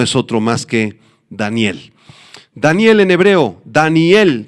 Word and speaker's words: Daniel: Daniel en hebreo, Daniel, se pronuncia prácticamente igual en el idioma hebreo y quiere decir Dios es mi juez.